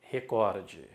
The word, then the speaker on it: recorde: não é proparoxítona ou a primeira palavra que se erra muito ó em português a palavra é recorde recorde recorde recorde ele